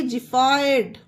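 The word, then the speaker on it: xiphoid: एक्स को जा पढ़ेंगे एक्स आई पी एच ओ आई डी इसे पढ़ेंगे जि फाइड जी फइड ओके गाइस देखिए एक्स के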